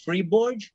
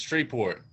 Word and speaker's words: Shreveport: And how do you say that? Freeborg? It's Shreveport. There's actually it's a Shreveport.